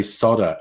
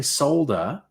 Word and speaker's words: solder: Newcastle when Americans say solder oh yes yes that's another one instead of saying solder they say solder and it's like there's